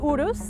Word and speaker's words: Urus: The 2019 Lamborghini Urus, I said it right that time, starts at $200,000, but this one is optioned up to the hilt.